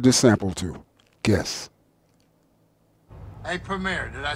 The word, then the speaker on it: Premier: going to give this sample to guess hey premiere did i say it right yes all right premiere that's right i said you know let me